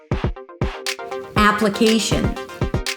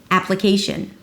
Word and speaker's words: application: Then it's a schwa. Ap-luh-KEI: primary stress and another schwa, a reduced vowel. Shin shin. Ap-luh-KEI-sh'n. Application, App.